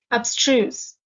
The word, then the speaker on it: abstruse: summarize the story obstrues the stress is on the second syllable abstruse it's an adjective and it